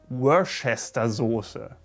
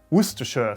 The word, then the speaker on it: Worcestershire: just one of the many many examples of mispronunciation here worcester saucer the worship saucer while it should be worcestershire sauce worcestershire also a little lesson for all